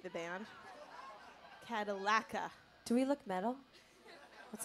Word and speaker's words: Cadallaca: I don't know where or whatever, but if that DJ's in the audience, we pronounce her name Cadallaca, like the car, not Cadallaca, like the band. Cadallaca.